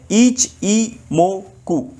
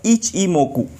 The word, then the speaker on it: Ichimoku: काफी लोग इसको इची इची ये कहते हैं। इसका सही प्रोनाउंसिएशन है ईच ई मोकु। इसको ऐसे बोला जाता है इच इमोकु।